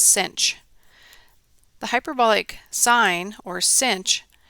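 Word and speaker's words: sinh: The first one is called the hyperbolic sign, si NH, and it's pronounced cinch.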